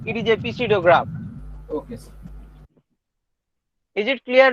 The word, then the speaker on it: pseudograph: say it is a pseudo graph. okay, sir. Is it clear, Lubna? Yes, sir. Clear, sir. Sir, Yes, telling. maybe its pronunciation is sudo.